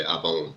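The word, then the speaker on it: עָוֹן: Awon, which is everybody say avon. They essentially pronounce the Y as a V, but that one there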